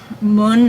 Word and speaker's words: Mun: say his name differently I think it's supposed to be pronounced Mo and I know I pronounced it as mun before and that's just